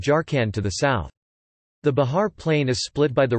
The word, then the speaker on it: Bihar: Bihar, Hindustani pronunciation, B-A-R, is an Indian state considered to be a part of eastern and northern India.